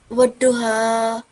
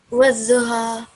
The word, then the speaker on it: والضحى: Okay, so bring your the edge of your tongue, the left edge of your tongue. Make sure that it's touching the upper edge of the teeth. So do that. والضحى.